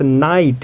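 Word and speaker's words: knight: है हमारे पास नाइट यहां इसे हम लोग नाइट प्रोनाउंस करते हैं जस्ट पहले हमने पढ़ा है ग क्या होता है साइलेंट होता है तो साइलेंट होगा इसे हम लोग नाइट पढ़ेंगे और इसके बाद के के बाद एन है और एन के बाद क्या है गाइज यहां आप देख सकते हो एन के बाद वावेल यानी की आई है इसलिए यहां के साइलेंट होगा तो हम लोग क्या प्रोनाउंस करेंगे नाइट प्रोनाउंस करेंगे आई नेक्स्ट रूल देखते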